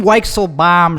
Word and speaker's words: Weichselbaum: of the the weixel bomb show that's how you pronounce my name it's over there 10